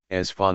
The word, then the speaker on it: Esfahān: Isfahan Persian as fun about this sound pronunciation